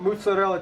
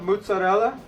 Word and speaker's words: mozzarella: Of course, we're going to put mozzarella cheese on it. And I want you to notice my pronunciation of mozzarella. I say it correctly. I hate it when you gringos say mozzarella.